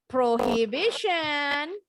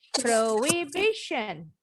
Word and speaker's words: prohibition: Bukan prohibition, tapi prohibition. Prohibition.